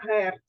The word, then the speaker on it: Герц: певна одиниця вимірювання яка називається Герц означає DC читається Герц честь фізика названа німецького Також ми з вами